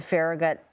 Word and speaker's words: Farragut: Uh, per federal law enforcement officials, the shooting appears to have originated near the Farragut Metro Stop. Sam, am I pronouncing Farragut correctly?